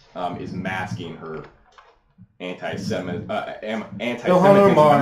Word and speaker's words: Ilhan Omar: Ilhan Omar. Ilhan Omar.